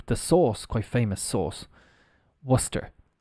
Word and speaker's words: Worcester: Source quite famous source Worcester like phonetically it would be like this Worcester w-u-s-t-e-r uh you also have